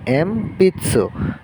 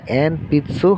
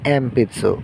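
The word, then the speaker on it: えんぴつ: তো এটার উচ্চারণ হবে এম তারপরে পি এবং এটা যেহেতু শব্দের শেষে সু থাকলে আমরা জানি এটা সু হিসেবে ব্যবহৃত হয়। তো এটা হচ্ছে এম পিতসু। তো এটা আমরা সঠিকভাবে যদি উচ্চারণ করি এটা এন পিচ্চসু হবে না। এন পিচ্ছুর বদলে হবে এম পিতসু।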